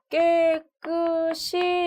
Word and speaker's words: 깨끗이: 만한 그런 근거가 없어요 그리고 지금 여기에 c 옷은 이와 연 음으로 발음이 되기 때문에 깨끗이 이렇게 발음하는 것이 적절하다고 볼 수 있겠습니다 우리가 평소에 이렇게 발음하는